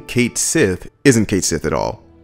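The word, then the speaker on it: Cait Sith: what sparked that basically the ff7 Twitter made a tweet which was like this is how you say this character's name that character being Kate Sith and they had it spelled out you know phonetically like Kate Sith I'll have the Tweet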